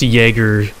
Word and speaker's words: Jager: house or it's either i'm gonna presume it's pronounced jaeger jaeger dark lights you know like like the beer jagermeister anyways the house uh